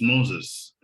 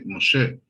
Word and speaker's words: Moshe: to say the name similar to francis moses you're supposed to say moshe and solomon is david